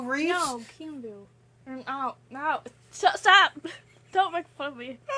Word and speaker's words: Keanu: How do you pronounce his name? Did you call him Q-View Reeves? No, Keanu.